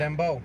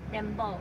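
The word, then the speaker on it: dembow: Dembo. Dembo.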